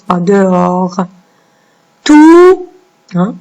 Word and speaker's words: tout: Tout. Hein, la lettre T qui est muette.